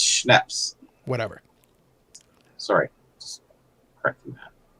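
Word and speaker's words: Snepsts: It's Schnaps. Whatever. Sorry, just correcting that. No, I'm happy with the correction. My point is, whatever. Even knowing the proper pronunciation, I would still call it Snippets.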